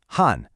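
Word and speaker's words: 汉: It's that sharp fourth tone again. Han.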